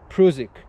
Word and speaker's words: Prusik: that's why I think the right pronunciation of this not is prusik because Carl prusik was Austrian with the with the